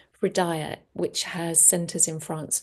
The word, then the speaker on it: Hridaya: I studied as a meditation teacher from a spiritual school called Hridaya, spelled with an H, just to confuse you. Hridaya, which has centers in France and Mexico.